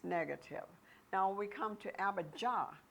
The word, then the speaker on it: Abijah: Now we come to Abijah. When you say Yah, Abijah, because there's no J actually in the Jewish language. So it actually is pronounced Abijah.